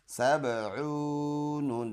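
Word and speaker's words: سبعون: Scene बा ज़बर सब, आइन वाव पेश ऊ, सबऊ, नून ज़बर न, सबऊन।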